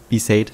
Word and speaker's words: Besaid: Und in der Cutscene wurde Bisade gesagt.